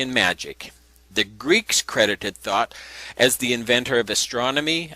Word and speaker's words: Thoth: This was created or conjured up by Thoth.